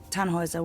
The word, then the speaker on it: Tannhauser: why what's your name tanhauser we'd pronounce it tanjoyza with an umlaut german roots yes my